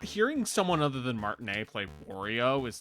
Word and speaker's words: Martinet: But not hearing someone other than Martinea playo is like that's going to be weird. Yeah. Is that how you pronounce it? I thought it was Martinette. No, no, it's Charles Martine.